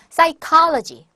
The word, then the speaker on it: psychology: psychology. P 발음이 안 나요.